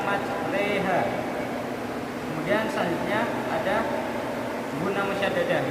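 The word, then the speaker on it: مجراها: Kemudian selanjutnya ada bacaan imalah yaitu di mana huruf ro dibaca reha, tulisannya majroha tapi bacanya majreha.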